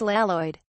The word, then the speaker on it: Lloyd: Or even the subtle, churlish Keepeel reference that main character Lloyd should be pronounced Laloid.